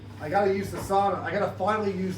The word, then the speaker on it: sauna: So, I got to use the sauna. I got to finally use the sauna. Sauna. You say sauna. Americans say sauna, but you pronounce it sauna.